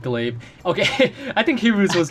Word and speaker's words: glaive: I said Golive instead of Glaive.